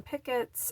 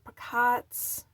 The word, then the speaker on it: picots: We're going to be working some, I pronounce them pickets, other people are picots, picots, picards.